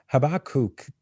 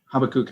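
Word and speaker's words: Habakkuk: 12 so yeah uh habakuk I tend to say habak but habakuk is actually a little bit better the pronunciation habakuk um so he is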